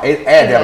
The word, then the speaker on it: Eder: No, Eder dovrebbe essere. Eder. La pronuncia portoghese dovrebbe essere.